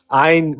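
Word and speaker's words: Ayn: I know it's pronounced Ein where she's from and so Einran says that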